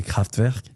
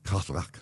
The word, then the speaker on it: Kraftwerk: I think we say Kraftwerk. Kraftwerk.